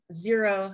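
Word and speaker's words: Xero: they are are these zero shoes they are like thinner lighter weight versions of tebas and the brand is x-e-r-o it's pronounced zero and they're really good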